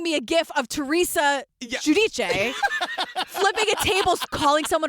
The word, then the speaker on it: Giudice: She calls herself Teresa Giudice, but it's Giudice. That's how you say it, Italian.